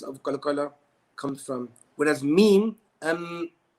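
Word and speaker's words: م: Okay, the following three letters are pronounced using both of the lips. Okay, that's your upper lip and your lower lip. The first one being ba, ab, ba. Second one mim, mim, and the last one waw, aw, ew.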